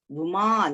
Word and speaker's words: Uma: That is how we need to pronounce actually. Uma, long one.